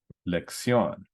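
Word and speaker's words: lección: to take the stress so this word is lection Accent on the o and we have the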